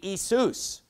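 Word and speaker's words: Ἰησοῦς: You know, if you were to pronounce the Greek word for Jesus, it would be Isus.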